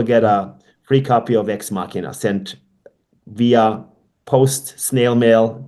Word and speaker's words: Ex Machina: So after you pre-order your book, you can send him an email, and he will send you a hard copy of Ex Machina, if I'm pronouncing that right.